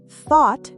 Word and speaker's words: thought: Thought has an a sound.